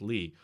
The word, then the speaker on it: Leia: My name is pronounced Lee. Oh, sorry. That's not how we usually, if we write it that way. There's a lot of silent letters in that name, but thank you for the super chat.